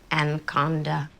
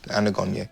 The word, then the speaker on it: Anagonye: Anaconda. Anagonye. Aganocomungo. Anagonye. Say it again? Anagonye. No, say what you said before. I did. It's Anagonye.